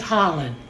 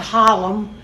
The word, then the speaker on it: Harlan: you say horrible um his name is Harlan har LAN Harlan not Harlem the world needs to